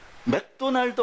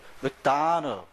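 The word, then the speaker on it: McDonald's: 그래 그 못 알아들어 근데 나중에 옆 사람이 딱 물어보는데 뭐 맥도널 맥도널 그래 알아들어 아 맥도널 이러면서 알아들 맥도날드 못 알아듣습니다 그럼 정확하게 발음 안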